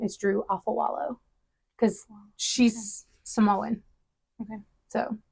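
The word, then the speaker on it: Afualo: knew how to say it because everybody says afuelo and all these other different things and I've heard her say that her name is Drew Alpha wallow because she's Samoan okay so it doesn't care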